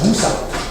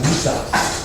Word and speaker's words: wusa: When you use one hand to guard, it's called wusa, okay? This is just Cantonese pronunciation, that's all, okay, wusa.